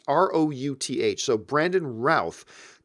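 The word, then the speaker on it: Routh: like to see Brandon Ralph I think you mean it's pronounced it ro you th so Brandon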